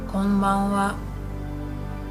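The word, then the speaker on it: こんばんは: Good evening would be konbanwa. Konbanwa. Konbanwa. So although here this is hiragana ha, but sometimes we pronounce it as wa.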